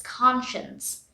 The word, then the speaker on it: conscience: conscience i now hear it's looking like science but it's conscience here we pronounce science